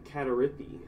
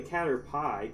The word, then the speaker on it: Caterpie: names forget forget it I used to call Caterpie katha rippy and there's bucks too many letters like where'd you get that from it's really Caterpie cater pie so you tell me